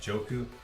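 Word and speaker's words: Njoku: for DraftKings ownership wise Harrison Bryant and that joku that's how you say his name so those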